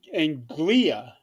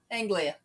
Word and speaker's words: Anglia: Anglia. Anglia. No. It's East. It's like Angelia, but without the E.